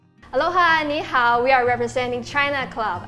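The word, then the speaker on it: 蝦: Ha is how it's pronounced shrimp in Cantonese, and because it sounds like laughing, it represents the wish of happiness.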